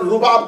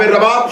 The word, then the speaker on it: رباب: اس کا تلفظ اردو زبان میں اکثر رباب کہا جاتا ہے. پیش کے اعتبار سے اسے نہیں پڑھیں گے, پیش کے ساتھ پڑھیں گے تو غلط ہو جائے گا. رباب پیش کے ساتھ پڑھے تو ساز کو کہتے ہیں, اگر زبر کے ساتھ پڑھیں گے تو تلفظ ٹھیک ہے.